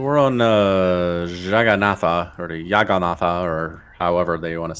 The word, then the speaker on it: Jagannatha: Oh gosh, it was like Jagannatha, I think was it. It's not Yaganatha. No, it's not Yaganatha. Not Scandinavian.